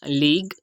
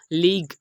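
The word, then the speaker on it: league: यहाँ पर भी हमने इसकी प्रोनाउंसिएशन हम करेंगे लीग ना कि लीगू।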